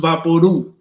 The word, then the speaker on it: Vaporub: Vaporu is pronounced Vaporu, like loud or chew.